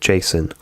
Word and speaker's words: JSON: and Fire Store pronouncing JSON. So, I pronounce it JSON. Um, but I've also heard people pronounce it Jason like the name and even J uh JSON Frenchially.